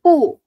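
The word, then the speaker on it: 不: P Indonesia dibaca P contohnya pu bukan Bu. Bukan Bu tapi pu enggak belajar enggak ngikut nada ya kemarin ya? Enggak ikut kelas nada ya. Ini nada empat banting pu.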